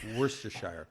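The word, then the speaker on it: Worcestershire: can we're just saying again don't look at how it's spelled worse to Shire where's the weirdest Network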